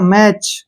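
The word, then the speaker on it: match: फिर से आ गया तो टी को हम नहीं पढ़ेंगे टी का प्रोनाउंस नहीं करेंगे इसको पढ़ेंगे हम एम ए सी एच सीधा मैच क्या पढ़ेंगे मैच जैसे सी ए टी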